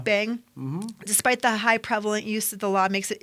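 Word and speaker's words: bhang: in the form of I'm going to pronounce this wrong hang b h n g Bang Yeah Bang despite the high prevalent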